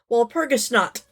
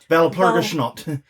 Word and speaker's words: Walpurgisnacht: James Thurman said, Walpurgisnacht. I'm sorry, Valpurgisnacht. Okay, I looked up the pronunciation.